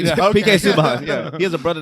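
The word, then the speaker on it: Subban: said it wrong I said it right PK suban yeah he has a brother named Malcolm suban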